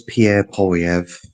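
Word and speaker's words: Pierre Poilievre: The the conserv his name is Pierre Polyv. That's how you say his name. Pierre Pyv.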